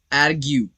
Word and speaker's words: argue: अगला जो वर्ड है वो है आर्ग्यू, ARGUE। सो यहां पर भी इस वर्ड में भी UE ये अपना लेटर नेम ही कहेगा, E साइलेंट रहेगा, आर्ग्यू, आर्ग्यू।